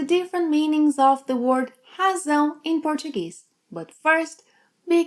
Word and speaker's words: razão: meanings of the word razão in Portuguese. But first, be careful with pronunciation. You need to make a strong Z sound, as in zebra, and not an S sound.